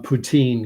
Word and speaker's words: poutine: I've got Danny commenting on poutine because he lives in Montreal, and Quebec is where poutine came from. In French, fries, gravy, cheese curd dish, and Russian president's last name are pronounced the same way.